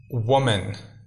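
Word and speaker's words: woman: زیادہ آدمیوں کے لیے۔ اسی طرح وومن، اس کا تلفظ تھوڑا سا مشکل ہے، اس کے اوپر آپ نے دھیان دینا ہے۔ اس کا تلفظ ہے وومن، ٹھیک ہے، وومن کا مطلب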